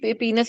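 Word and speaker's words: penis: कुछ जगह पे इसको अभी भी पीनस ही बोला जाता है और कुछ जगह पे इसे पेनिस ही बोला जाता है, बट द करेक्ट प्रोनाउंसिएशन जो now world is pronouncing it's पीनस।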